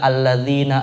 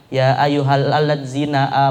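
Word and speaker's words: الذين: masalah di dalam membaca yang harusnya dibaca alladzina amanu ya ayyuhalladina amanu eh malah dibaca ya ayyuhaladina amanu Coba lihat aja di huruf latin alatzina yang harusnya alladzina amanu menjadi alat zina gitu nah ini kan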